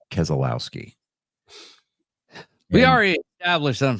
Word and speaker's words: Keselowski: It's pronounced Keselowski.